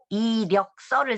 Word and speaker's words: 이력서: 그 지금은 그 우리나라 사람들은 그 그저 자기의 그 역서를 쓰려면 이력서를 쓰죠. 근데 북한 사람들은 리력서라고 센 발음으로 쓰죠.